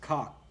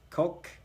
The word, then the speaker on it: Koch: So I thought it was pronounced cock. Is it? I'm a loser. I don't know how you pronounce it. It doesn't matter to me. I thought it was Koch. It's like being psychologically abused by the government. So, Coke.